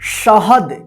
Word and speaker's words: शहद: ठीक है, शहद। क्या लिखना है? शहद। लिखिए आप फटाफट, शहद। देखिए श कौन सा हो रहा है ना, इसका उच्चारण